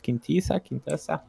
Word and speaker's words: Quintessa: about the Malganis and that how she is pronounced, Quintessa.